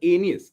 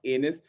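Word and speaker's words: Aeneas: dido and anus now i know the pronunciation is anes all right it's not anus but that's the closest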